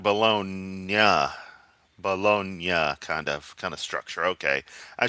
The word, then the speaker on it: Bologna: Okay, yeah, Bologna. Gotcha. Say it like the Weirdo song. My Bologna.